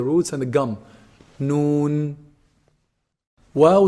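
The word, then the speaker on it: و: Wow is pronounced when you put both lips together and you stick them outside.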